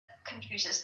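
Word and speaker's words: Confucius: Like confusion like if I'm pronouncing it right, the Chinese philosophy, right? That confusious. Confucious.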